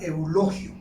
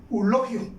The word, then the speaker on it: Eulogio: es que debe de evitarse en el habla la reducción del diptongo a una sola vocal por ejemplo pues la palabra eulogio la palabra eulogio hemos escuchado por ahí que algunas personas cuando la pronuncia dicen dice elogio entonces prácticamente ella está omitiendo el diptongo y eso es incorrecto igual la palabra continuo